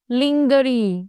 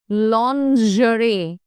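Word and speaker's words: lingerie: to pronounce this word don't call it लिंगरी और लिंजी इट इज ल जरे ज नॉट ज लजरी लजरी मींस वनस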